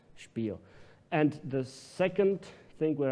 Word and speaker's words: Spiel: As you can see down here, for example, the first task was to learn the English voices, the proper German pronunciation of Spiel, not to say Spiel, but Spiel.